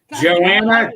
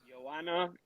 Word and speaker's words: Joanna: just D and Greg how do you pronounce that Joanna J jerky I that's UFC and I don't remember how to pronounce her name Yanna y j that's yeah I wouldn't have pronounced it that way that is a bold face